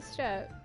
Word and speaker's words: Steppe: We're on the step. Elevators are weird. Kian, we don't. No, it's step. It's step. It's not steep. It's step. The E at the end is silent.